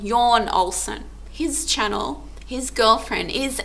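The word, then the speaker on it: Jon Olsson: you're you're um it's it's spelled John Olsen but it's yawn yawn Olson his channel his girlfriend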